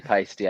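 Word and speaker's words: Paiste: when I met Kelly pisty I just remember asking like the first time I was there and they're like rhymes with it rhymes with feisty and they were so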